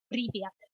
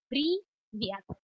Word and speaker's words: привет: Now, if you want to say informal hello, that is привет. And that's привет.